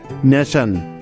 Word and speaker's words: nation: তো এন এ নে, আর শন সাউন্ডের জন্য হবে TION, নেশন। এখানে টি এর উচ্চারণটা স এর মতো হচ্ছে, তাহলে ফাইনালি নেশন বানানটা কি পেলাম? NATION, নেশন।